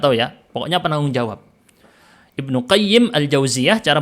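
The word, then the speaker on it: Ibnu Qayyim al-Jauziyah: Imam Ibnu qayyim aljauziyah cara bacanya Ibnu qayyim aljauziyah jadi ada Madrasah aljauziyah di masa lalu punyanya mazhab Hambali dari keluarga Ibnu jauzi jadi beda Ibnul jauzi beda dengan Ibnu qayyim aljauziyah itu dua orang yang berbeda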